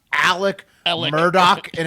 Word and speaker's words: Murdaugh: His name is pronounced Alec Alec. Murdoch, and it's Yeah, Alec spelled Murdaugh.